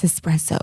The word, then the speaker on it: espresso: and you notice that they're saying a word wrong, but pull them to the side and be like, hey, I'm not sure, but I think it's espresso if you're going to say it in the meeting.